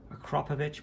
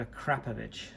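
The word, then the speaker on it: Akrapovič: and you know, I've heard many ways to pronounce that, and my current understanding is the correct way is a Krapovich, not Akrapovic or a Kropovich, but a Krapovich.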